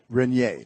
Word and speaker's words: Reginer: And I pronounce it right? Reginer. Yes.